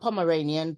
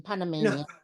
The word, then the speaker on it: Panamanian: in that sense yeah not Pomeranian Panamanian well both my parents